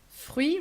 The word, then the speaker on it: fruit: Fruit written like in English, but we do pronounce the I and we do not pronounce the final T.